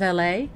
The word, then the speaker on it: Elle: welcome back to the living room I am La uh that's how the first name is pronounced is La uh kind of like the city in Los